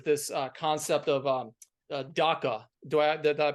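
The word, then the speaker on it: dukkha: to me was this uh concept of um DACA do I that I pronounce that right yes duka and um can you kind of break that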